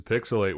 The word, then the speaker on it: PixelHate: and uh this is pixelate where the H is silent but the hate is